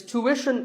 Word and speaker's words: tuition: hidden sound here well the first syllable is easy to American or to British but after that it's not ition it's Wishon tuition you have to put the what sound there so too word